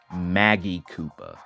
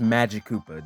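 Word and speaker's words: Magikoopa: longest time I thought this guy's name was pronounced Maggie Koopa I don't know what was wrong with me but yeah it's pronounced Magik Koopa don't don't make that mistake like I did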